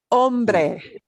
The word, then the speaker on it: hombre: It is the word for man, hombre. Even worse if you put an H sound in there, right?